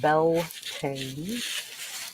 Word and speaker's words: Beltane: Beltane is pronounced Beltane. It is an English word, therefore it is pronounced exactly how we spell it according to the English language phonetics.